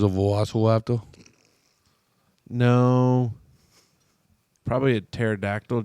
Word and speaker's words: pterodactyl: Probably a pterodactyl. Just 'cause how you spell it. Yeah, baby. You know, because there's the P in front of the. It throws everybody off.